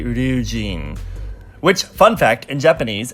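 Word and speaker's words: Ryujin: not get tongue-tied here it's actually review gene which fun fact in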